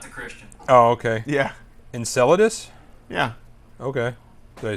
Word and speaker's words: Enceladus: Enceladus.